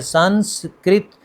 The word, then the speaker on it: سنسکرت: نہیں بولا جاتا، تو درست تلفظ ہے سنسکرت، سین پر زبر، پہلی سین پر زبر، پھر آگے نون، سین، کاف، تینوں پر جزم ہے، اور آخر پہ رت۔ سنسکرت ایک قدیم زبان